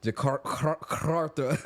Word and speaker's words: Jakarta: I got to roll my R's. Okay. Jakarta. Okay. Heavy on the car.